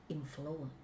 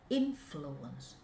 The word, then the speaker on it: influence: speak with Venom people we are going to learn the wrong way of pronunciation from Venom people so we have to be careful influence influence influence influence this is